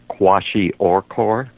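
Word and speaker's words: kwashiorkor: milk how do you say that condition again quashi oror oh okay wow uh and it's a protein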